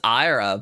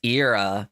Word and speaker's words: Ira: In all honesty, though, I thought it was Ira, but it's Ira. That's how they pronounce his name in the Chi back cover story.